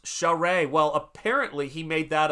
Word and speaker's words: Charest: Oh, it's pronounced Charest.